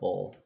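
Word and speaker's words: Bowll: And yes, I believe that is how the enemy name is pronounced. B-O-W-L-L, bull.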